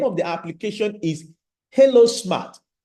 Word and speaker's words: Helo: The name of the application is Halo Smart. Hilo is spelled H-E-L-O, Hilo Smart.